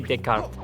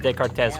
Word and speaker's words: Descartes: It is French. It is pronounced Rene Descartes. So you got. I said Descartes wrong because I assumed it sounded Spanish.